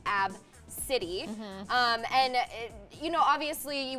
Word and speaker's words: Abcde: you ABCDE is how you spell it it's pronounced AB city and you know obviously you would never want